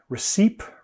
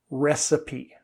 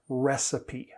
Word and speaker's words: recipe: and i understand why recep recite that e is very strong in this word recipe recipe so i actually say that as though it's the name of the letter recipe sun sand and